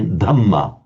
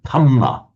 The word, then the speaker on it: Dhamma: And for example, the Thais can't say Dhamma. They say something, it comes out as a Thamma.